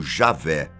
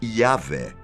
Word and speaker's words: Javé: Não confunda com o tetragrama sagrado aquele conjunto de quatro letras YWH, normalmente pronunciado como Javé ou Yahvé, e é usado para representar o nome de Deus no Antigo Testamento.